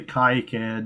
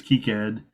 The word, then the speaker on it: KiCad: and we we refuse to use the French pronunciation so we say kayakad instead of keycad oh it's it's Key Cat actually the French pronunciation yeah he originated in France so that's that's the French pronunciation is keycad so here to the to the board